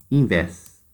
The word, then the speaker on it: invés: A palavra diferente, invés. Copiem invés, ela é uma oxítona, porque está na última sílaba.